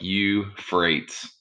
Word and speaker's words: Euphrates: is known as the euphrates and it starts with e u just like in europe e u p h r a t e s so it's like you freights with a ph okay so you have